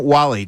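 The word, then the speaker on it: Walley: Justin Wall-E. W A L L E Y. Cuz you you spit it out almost too fast cuz people are like, who the hell is Justin Wallally? Justin Wall-E.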